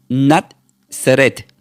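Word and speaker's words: נצרת: Y este esta palabra nombre en hebreo se pronuncia como natet.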